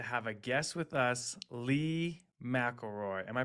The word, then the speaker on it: Leigh McLeroy: excited today to have a guest with us Lee McElroy am I pronouncing that correctly perfect awesome uh so Lee